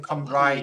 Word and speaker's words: Cymraeg: Cymru is the country, and then Cymraeg is the language. Is it CMMRYU? CYMRU. I'll write it in chat. CYMRU. Cymru. Yeah. Wait, is it? Yeah. And then Cymraeg.